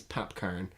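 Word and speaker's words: Popcaan: see a AR n I'm not saying popcorn in Jamaican accent it's PAP Cohen and he was just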